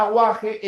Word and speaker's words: aguaje: Me pregunta, "Profe, la palabra aguaje en aguaje no hay dígrafo, por si acaso." Aguaje o no, porque la u se está pronunciando, ¿no? Aguaje como en agua.